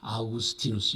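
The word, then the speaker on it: Augustinus: 발음하는 대로 불러라. 그래서 아우구스티누스 이렇게 불러요.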